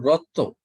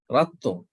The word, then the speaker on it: ratto: No, not Rotto. Ratto. Ratto, sorry.